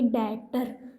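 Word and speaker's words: debtor: ये डेप्टर नहीं होता बच्चों। यहां पे जो ये बी है वो साइलेंट होता है। क्या होता है? बी साइलेंट होता है। इसलिए हम इसको रीड करेंगे। डेटर क्या है?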